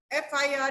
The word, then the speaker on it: FIR: Otherwise, FIR is written. F is pronounced with an E sound, which is a vowel sound.